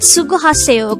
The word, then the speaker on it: 수고하세요: The word sugohaseyo could be divided into 5 syllables. The first 2 are su-go. Su is formed from the combination of the sounds of siyat and u, while go is formed from the combination of the sounds of giyak and o.